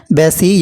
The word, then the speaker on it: बैसी: सही आंसर हो जाएगा बैसी कहा जाता है बैसी यानी 22 को जो हमारी लोकल लैंग्वेज है बैसी जो है प्रोनाउंस किया जाता है तो बैसी त्यौहार